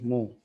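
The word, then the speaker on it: mho: मो ओहम के स्पेलिंग को उल्टा लिख लें। एम एच ओ मो या इसे एक और नाम देते हैं सीमेन।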